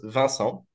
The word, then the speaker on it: Vincent: friends uh because my my name uh is pronounced vassal in French and Van is the number 20 and song could be sent so we just decided